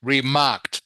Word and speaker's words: remarked: be remarked is correct remarked by the way that's how you pronounce this word marked not marked marked remember e d is often pronounced like a t so marked marked yes